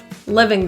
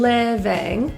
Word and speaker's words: living: The I in living, both in fact, are lower pronunciation. So that means our tongue is slightly relaxed. Instead of e, we slightly lower our tongue to living.